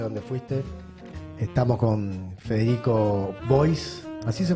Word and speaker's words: Bois: Fe no sé dónde fuiste estamos con Federico Boys así se pronuncia Bueno estoy acostumbrado a hacer las notas